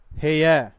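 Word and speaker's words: hair: इसी तरीके से आगे वाला देखो 18व नंबर का हेयर नॉट है यार हेय आर साइलेंट रहता है या और जब अंग्रेज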